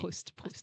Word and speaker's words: Proust: Proust, right? Yeah. Did I pronounce it right? Yeah. Marcel Okay. Proust.